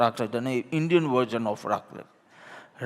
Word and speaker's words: raclette: Raclette is raclette, so an Indian version of raclette. Is it 'racle' or 'raclette'? Mridulaben? The 't' is pronounced, right? Yes, okay. So 't' is not silent.